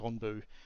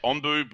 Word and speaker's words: Onbu: Onbu is how it's spelt. I think it's pronounced Onbu.